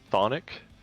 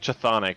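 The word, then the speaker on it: chthonic: it's it looks like chathonic but it's spelled like saying Sonic with a lisp oh I just read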